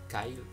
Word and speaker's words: Kyle: homme qui s'appelle Chris Kyles Kyle Kyle comme vous le prononcez en Amérique qui était au départ